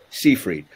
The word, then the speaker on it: Seyfried: Oh, Seyfried.